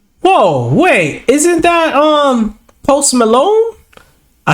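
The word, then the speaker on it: Post Malone: wait isn't that um post Malon I said did I say his name right post melon yeah there we go um hold on ain't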